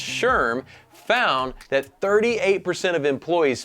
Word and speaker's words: SHRM: League a recent study by SHRM pronounced Sherm found that 38% of